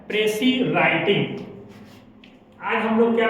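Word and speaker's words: précis: इसको 90% लोग गलत पढ़ते हैं प्रेसिस। क्या पढ़ते हैं? प्रेसिस। लेकिन प्रेसिस जो है वो रॉन्ग प्रोनाउंसिएशन है। एक्चुअल जो इसका उच्चारण होगा वह प्रेसी। एस जो होगा वो साइलेंट हो जाएगा, इसकी उच्चारण हम लोग नहीं करेंगे।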